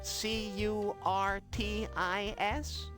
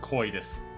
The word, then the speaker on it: Kitus: C U R T I S. No. Why? Yeah, it is spelled Kitus. It's not Curtis. It's Kitus.